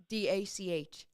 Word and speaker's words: DACH: So how do I pronounce DACH? Dach. So it's a soft D and then a harder sound in the end.